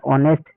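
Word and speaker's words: honest: एच यहां पे silent है तो क्या लग गया? ऑनेस्ट। ऊपर देखो आवर में क्या है?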